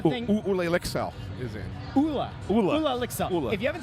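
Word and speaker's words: Olle: And she's like, "Yeah, it's Ula."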